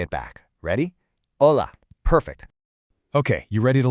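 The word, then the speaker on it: hola: Your number one most important word is ola. Now, let's get the pronunciation just right. It's o l a. That h at the beginning totally silent.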